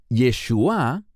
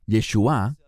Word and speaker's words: Yeshua: La palabra Yeshua, no Yeshua, que es la manera hebrea de decir Jesús, sino Yeshua, con acento en la A, Yeshua, significa salvación.